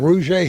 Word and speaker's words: Russia: And there's a hill west of here called Rouget Hill, which is spelled R-U-S-S-I-A.